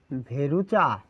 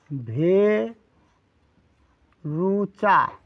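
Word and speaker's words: Verruca: আঁচিলটির নাম লিখে নিচ্ছি এই আঁচিলটির নাম হচ্ছে ভেরুচা ভেরুচা আপু মি না তাহলে পুরো নামটি কি লিখলাম এটার উচ্চারণ হচ্ছে বাংলা উচ্চারণটা লেখার প্রয়োজন এটার উচ্চারণ হচ্ছে ভে রুচা ঠিক আছে ভেরুচা এটার উচ্চারণ হচ্ছে একু মিনা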